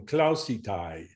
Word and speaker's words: klausītāji: Tie ir visi bāra bērni, bargu kungu klausītāji. Okay, so like that last one, klausītāji, that is a long owl, so it did not reduce to schwa, whereas some of other Ieva's vowels at the end of words are reduced.